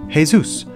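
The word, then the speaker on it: Jesús: play the lead character hey Zeus pronounced hay-soos while his five older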